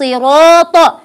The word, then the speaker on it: الصراط: اهدنا الصراط اهدنا الصراط وكما قلنا احبائي الصغار هذه الالف الصغيره انظروا عندكم في المصاحف الالف الصغيره التي بعد الراء هذه تنطق الف هي الف نعم نعم انها مرسومه الف صغيره ولكنها تنطق الف بحركتين يعني بحركتين يعني امدها طبيعي ولا يوجد اي مشكله فاقول